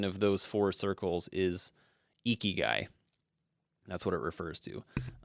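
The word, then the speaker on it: Ikigai: Up next is a book called Eeky Guy. I love this. I love that I looked up how to pronounce this, but Eeky Guy, I k I g a.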